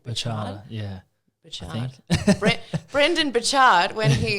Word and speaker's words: Burchard: Burchard, yeah.